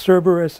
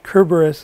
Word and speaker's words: Cerberus: I researched Cerberus a little bit. Some people say that it was actually pronounced Cerberus, and others say it was Cerberus, and sometimes it's spelled Cerberos, and so forth.